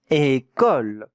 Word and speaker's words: école: Le mot une école. Très important l'école. Very important that word. Une école. What does it mean? Une école, try to guess.